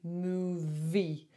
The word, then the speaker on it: movie: And when they say the word move, they don't do the second syllable. So it needs to be movie. So 2 syllables in there.